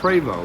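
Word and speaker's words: Prevost: r e v o s t that is pronounced preo that's a preo a true bus and they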